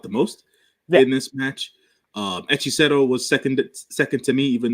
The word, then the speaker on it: Hechicero: Hexero? Hechicero.